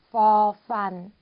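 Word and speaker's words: ฟ ฟัน: 그리고 31번 역시 F 발음으로 해주시면 돼요. for fun, for fun.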